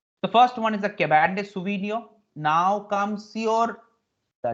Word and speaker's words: Cabernet Sauvignon: It's called Cabernet Sauvignon. Now T is never pronounced in France.